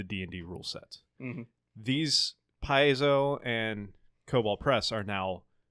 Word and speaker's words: Paizo: Most famously would be the company of, I can never pronounce it, Paizo. You got it right. Yeah. Paizo.